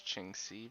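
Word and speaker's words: Qingce: ching shu pool no i want so it's ching c village ching c uh this is probably faster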